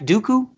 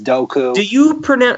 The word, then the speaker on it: Dooku: Dooku? Yes, it depends. George Lucas changes it. Sometimes George Lucas says Dooku, sometimes it's Doku.